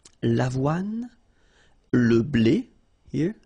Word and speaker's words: avoine: L'avoine, le blé, le maïs, le millet. So let's repeat them. L'avoine, remember, don't insist on the final E. L'avoine, le blé, here, accent aigu, et le maïs.